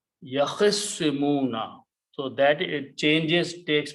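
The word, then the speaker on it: يَخِصِّمُونَ: Okay, so if you do that, so it becomes swad, and now it becomes yakhissimuna. Okay, or instead of yakhtasimuna, its swad has a shadda and it's pronounced yakhissimuna.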